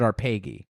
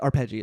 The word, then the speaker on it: Arpeggi: weird fishes slash arpeggi do I have that pronunciation right or is it our pagy uh it both but I think in in our uh arpeggi is correct because is it a cheeky reference to the arpeggio picking pattern of the guitar